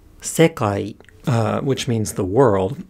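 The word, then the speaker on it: 世界: So if we go back to the example word, sekai, high, low, low, and then the particle also attaches low. So sekai wa, or sekai ga, high, low, low.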